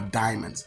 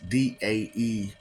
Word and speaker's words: daemon: Pokemon, by the way, are diamonds. Daemons. You call them daemons, but it's pronounced diamond.